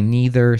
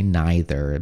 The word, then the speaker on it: neither: either some people say neither some people say neither both are correct which version is more